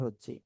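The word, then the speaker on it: ح: তো এবার আমরা ইনশাআল্লাহ সামনে অগ্রসর হচ্ছি। এখন আমরা যে অক্ষরটা শিখব সে অক্ষরটা ছিল এই অক্ষরটা হা। এটা গলার মাঝখানে আপনার এক আলিফটা নিয়ে মুখ দিয়ে হালকা বাতাস বের করে উচ্চারণ করতে হয়।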